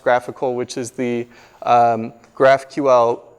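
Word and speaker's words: GraphiQL: get these really neat tools like graphical it's pronounced graphical which is the graph QL live query editor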